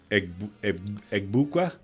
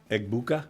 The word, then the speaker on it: Egbuka: Egbukwe?